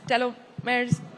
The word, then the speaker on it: telomeres: We hear a lot about gene therapies, telomeres, telomeres, that's how you say it.